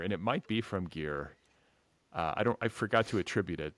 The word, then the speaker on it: Geir: And again, forgive me on the pronunciation, but it's Geir. Yeah, Geir, yeah.